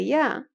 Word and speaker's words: ي: And the ya, which is written like an e, a double e, that may also be